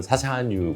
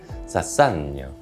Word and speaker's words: Chassagne: 저희는 사샤뉴 몽라시아라고 하는데 사산라고 하더라고요.